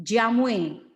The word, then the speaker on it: jamu: Actually, the pronunciation, the old pronunciation is jamu is Jamoe, jamue, yeah. But finally we call it a jamu because we spell it, it's jamu.